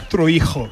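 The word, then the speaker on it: Troyjo: Marcos Troijo. Aê. Como é que como é que pronuncia o seu sobrenome? Troirro. Troirro. Pronto. Troirro. Troíijo também. É, ele falou tróio.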